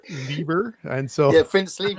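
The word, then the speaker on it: Leiber: E I B R Liber. And so yeah, Prince Fle. I always say FR. So I always went So he says it himself. He calls himself liber.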